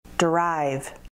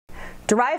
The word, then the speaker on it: derive: Derive. Derive has two syllables, derive, and the emphasis is on the second syllable.